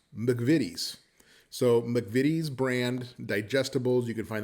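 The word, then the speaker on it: McVitie's: video that you saw I kept calling it mcavides and that is not the correct pronunciation at all so since we filmed that I discovered that it's actually pronounced the vidis so mcvitty's brand digestibles you can find them all over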